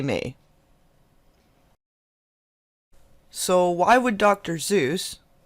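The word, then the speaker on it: Seuss: fall where they may so why would dr zeus it's pronounced soyuz actually be so angry out of the blue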